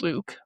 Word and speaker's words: LIWC: His program LIWC linguistic inquiry and word count pronounced Luke.